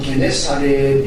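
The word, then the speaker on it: Γεννησαρέτ: 이걸 이제 히브리어로 정확하게 발음하면 긴네로 이렇게 되는 거죠. 이걸 헬라어로 발음하니까 오늘 말씀처럼 게네사렛 이렇게 됩니다.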